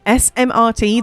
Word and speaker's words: smrt: Moose, SMRT, is it like smart? Funny, SMRT, the way that's those 4 letters in Czech means death.